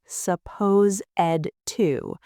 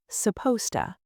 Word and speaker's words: supposed to: Native speakers don't say, suppose ed to. We squash it together. It sounds like supposta. Try to make that sound. It's supposta.